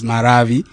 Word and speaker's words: Maravi: Maravi is a Chichewa. It is properly pronounced as Maravi, as flames of fire.